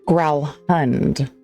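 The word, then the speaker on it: Gralhund: Growlhund.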